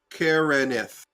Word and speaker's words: Karenith: It is a 3-syllable name, Karenith.